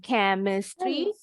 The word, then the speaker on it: chemistry: bunyinya seperti huruf k kebetulan yang chemistry ch-nya bunyinya k ya sedangkan di bawahnya